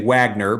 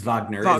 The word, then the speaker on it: Wagner: uh Johan uh of course Americans will say Wagner but it was Vagner is how you're going to pronounce that.